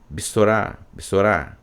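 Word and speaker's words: בְּשׂוֹרָה: um significado de que esse B é de passagem, muito rápido, tá? Já passando para a próxima sílaba, Bessorá, tá certo?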